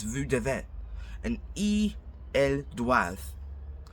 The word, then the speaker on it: doivent: And elles doivent. It's DOIVENT, but don't pronounce the ENT at all.